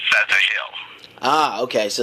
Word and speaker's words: Ptahil: Well, the ancient phonetics of the P is F sound. Right. So it's PTAHIL.